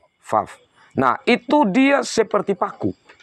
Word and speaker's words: Vav: Yang Alef, Bet, Gimel, Dalet, He, Waw atau Vav. Kalau cara bacanya, Vav.